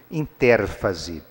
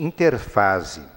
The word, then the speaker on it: interfase: Ou vocês vão encontrar alguns livros de biologia escrito interérfase, mas o nome pode se pronunciar mais corretamente, interfase.